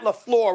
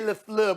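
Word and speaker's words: LaFleur: gin exactly because I I said Matt laflor right Molly I didn't say lefl because we know he's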